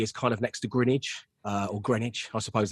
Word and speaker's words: Greenwich: interested in geography is kind of next to Greenwich uh or Greenwich I suppose that's the but